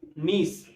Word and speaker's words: niece: अब नीस में देखो, नीस किससे रिलेट करता है, कई बार बच्चे नीस की स्पेलिंग क्या करते हैं, NICE, वो नाइस बना देते हैं नीस का, अक्सर बच्चे ऐसा करते हैं, ठीक है। तो नीस को किससे रिलेट करना, पीस से, पीस, PIECE।